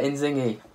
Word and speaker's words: Inzinghy: You're actually the first person in a long time that's actually pronounced it correctly, which is amazing. Yeah, Inzinghy.